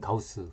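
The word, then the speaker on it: Gauss: 독일어 의 "ss" 발음 처럼 , 어떤 면 에서 는 영어 의 "B" 발음 과 유사 합니다 . 예 . 여기 서 "ss " 는 가우스 를 의미 합니다 .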